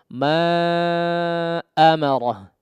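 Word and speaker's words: ما أمره: Kemudian lagi-lagi di hamzahnya ya, perhatikan ma amarah yaqdi ma'a. Awalan hurufnya atau awalan suara hamzahnya betul-betul terdengar jelas ya.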